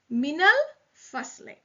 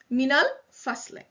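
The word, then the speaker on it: مِنَ الْفَصْلِ: So in order to pronounce it, a fatha is added on the noon. So it is minal fasli.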